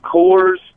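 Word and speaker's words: Kohr's: of those custard things it's Coors k-o-h-r-s I think it's pronounced we saw that on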